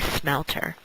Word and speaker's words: smelt: And that's S-M-E-L-T. I'm not just pronouncing melt in a funny way.